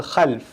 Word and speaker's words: khalf: When you leave behind disappointing generations, they're called khalf. Khalf is bad, khalaf is good.